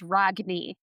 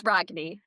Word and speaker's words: Rogne: Well, the correct pronunciation is Ragny. So, if we wanted butcher that we could do Renee, let's be fancy, but no, it's Ragny.